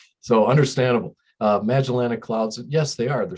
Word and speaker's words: Magellanic: Yeah, they're called Magellanic. I know it's kind of a weird, what you put the accent on the syllable, so where you put it. So understandable. Magellanic clouds, yes, they are.